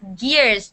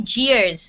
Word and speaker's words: gears: pronunciation is pretty good just gears don't say cheers all right if you say jeers then you're making a J sound okay judge cheers so this is gears this is G yes